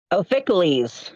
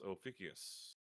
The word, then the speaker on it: Ophiuchus: You said Pronunciation is incorrect. not super specific, but Ophiuchales or something like that is what it is. Ophiuchales, the 13th zodiac sign. yeah, no one's gonna get it. It's Ophiuchus.